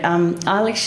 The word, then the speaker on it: Eilis: it, I was just going Ellis, Ellis, Ellis, because it seemed to be the easiest way of doing it. And in fact, if I slip into that today, I apologise. It's not the right pronunciation.